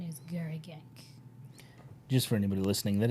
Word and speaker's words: Garriguenc: It is very French. I had to Google it. The Google says the pronunciation is Garagank.